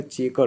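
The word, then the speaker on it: Chequer: में रखिएगा इसका इसका इसका pronunciation C एच ई क्यू यू ई आर का चेकर होगा।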